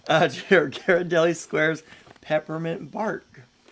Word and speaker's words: Ghirardelli: gosh we really like Ghirardelli uh Ghirardelli squares peppermint bark do you guys say Ghirardelli or Ghirardelli I think a hard G Garrett Ghirardelli okay the